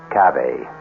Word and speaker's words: cave: word spelled the same way C A but pronounced cave it means beware our cast included Marian selas